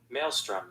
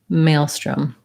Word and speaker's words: maelstrom: english so in british maelstrom it didn't it sounded to me kind of like a schwa there but it does have a slightly different vowel in american english maelstrom maelstrom so that's also tends